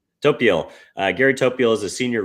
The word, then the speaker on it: Topiol: Uh Gary Tophole, is that how you pronounce your name? Gary, sorry if I just butchered that. Topiel.